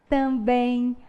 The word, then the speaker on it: também: A gente fala armazém, ninguém, também, amém. Então, toda vez que a gente vai pronunciar essas palavrinhas terminadas por EM, nós pronunciamos um fonemazinho a mais, que corresponde ao som da letra I, não é verdade?